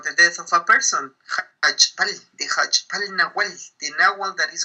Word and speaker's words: Jachb'al: Jachb'al.